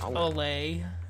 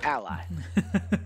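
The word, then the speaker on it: Allay: It's pronounced Olay. Is it actually? Yes. Is it actually pronounced Olay? Yes. Man, that's fucking stupid. Ally.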